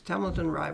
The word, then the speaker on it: Templeton Rye: Yes, Templeton Rye was the best known whiskey around there.